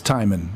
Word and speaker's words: Timon: It's Timon. So Timon. it's spelled like the Lion King.